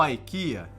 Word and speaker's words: IKEA: A IKEA, ou IKEA, na pronúncia estrangeira, aquela empresa sueca especializada